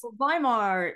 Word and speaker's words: Weimar: So yes, Weimar is it's spelled Weimar because yes, W is V in German.